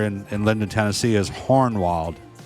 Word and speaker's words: Hohenwald: in Linden Tennessee is hornwalled with an R h-o-r-n-w-a-l-d so hornwald is how you pronounce it so you know hornwald